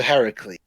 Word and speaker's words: Heracles: um apparently i've heard there's two different pronunciations hercules there was that one i just said but it was also heracles is the actual greek name hercules is the